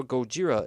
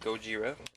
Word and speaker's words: ゴジラ: by the Japanese filmmakers Godzilla is how Gojira is pronounced properly in Japanese too the company behind